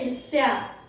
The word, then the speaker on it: ईर्ष्या: ईर्ष्या, ईर्ष्या इसका उच्चारण, मूर्धनी सा का उच्चारण हम पूरा नहीं करते हैं, सिर्फ नाम मात्र का आधा उच्चारण। इस पर मूर्धनी सा पर आधा सा, मूर्धनी सा पे ज़्यादा विशेष बल नहीं पड़ता है, इस सिर्फ थोड़ा सा बल के बाद ईर्ष्या शब्द लिखा जाता है।